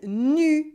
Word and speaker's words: nu: And a potentially embarrassing mistake arises with nous for we or us, nous, and nu for naked. Simply, for example, nous, on est content. We are happy. Nous, on est content is not the same as nu, on est content. We are happy when we're naked.